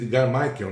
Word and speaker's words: Mitchell: 14, o astronauta Edgar Mitchell. Edgar Michael, né, que é a pronúncia, ele relata hoje, apesar